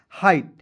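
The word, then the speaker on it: height: तो हो जाएगा एच का ह लिख दीजिएगा और आई जी एस टी का उच्चारण आई के रूप में करेंगे। तो क्या हो जाएगा? हाइट।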